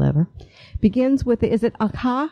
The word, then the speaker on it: Akha: The Tea Girl of Hummingbird Lane, best title ever, begins with, is it Akha? How do you pronounce that? Akka, yeah, you have it exactly right.